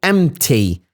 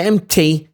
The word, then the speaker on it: empty: the empty the empty sometimes we say the p and sometimes we don't say the P so it's up to your discretion when it comes to the pronunciation here you can say it and if you don't want to say it you got the chance not to say it bagging in front of